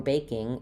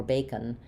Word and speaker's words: baking: And so when you're saying something like proving or baking, it might sound like proven or bacon.